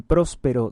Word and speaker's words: Próspero: San Próspero de Orleans, próspero con acento en la o en la ciudad de Orleans, en la ciudad de la Galia Lucdunense, San Próspero Obispo del siglo V.